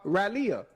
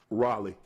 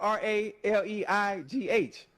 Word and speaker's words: Raleigh: I've been to uh Raleia. I've been to Raleia twice. You mean Raleigh? Raleia. Oh, okay. Close enough. That's how you say it. How you say it again? Raleigh.